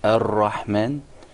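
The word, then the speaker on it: الرحمن: A hidden mistake, first like rolling the ra, like in the ar-Rahman, rolling the ra. The unwanted repetition or rolling of the ra.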